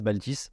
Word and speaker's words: Baaltis: Et je suis tombé sur la déesse Baltis, donc qui s'écrit Baaltis. Ok.